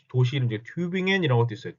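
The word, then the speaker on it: Tübingen: 교엔 혹은 뭐 도시이 튜빙 앤 이런 것도 있어요 튜 튜 빙엔 튜빙 앤 이것도 튜빙겐 하지 마시고 튜빙 앤 팅 앤 팅 겐 아니에요 이런 것들 발음을 조금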